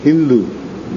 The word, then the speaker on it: Hindu: So, outside the border of India, the Mohammedans, they used to call the inhabitants of the neighborhood of that river Sindhu, Hindu, because they pronounce S as H.